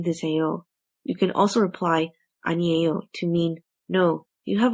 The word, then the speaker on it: 아니에요: Let's look at the next phrase, which is pronounced as 아니에요. 아니에요, which means no, or can be used to mean it's not true.